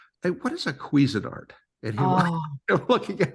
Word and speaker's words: Cuisinart: But Cuisinart.